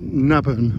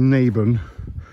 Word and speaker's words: Naburn: and lock itself now I was pronouncing it naban or nabin but it's actually naben I've learned since we've